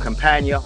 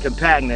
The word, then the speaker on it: Campagna: What a T-Rex is a three-wheel reverse trike manufactured by a company called Campagna Motors. Campagna is the way I pronounce it, but Campagna Motors if you want to be verbally correct.